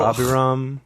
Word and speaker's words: Abiram: What would you say? Abiram? maybe? Yeah, I would say Abiram. Oh, yeah. Or Abiram. Yeah. But I like Abiram. Abiram is good, yeah.